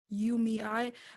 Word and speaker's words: UMEI: Especially with when I watched the short film titled UMEI, is that how you pronounce it? Yeah. UMEI.